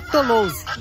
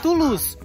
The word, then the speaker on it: Toulouse: Eu insisto em falar Toulouse. Mas o meu amigo que nos acompanha aqui, ó, lá de Londres, nos ensinou a falar que a pronúncia certa é Toulouse.